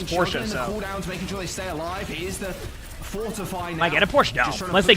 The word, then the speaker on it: Porsche: he was saying well it's called porsa that's how you pronounce it but like growing up in like least America called it pors didn't like I know we never questioned it we didn't know now now I know it's Porsche a Porche no unless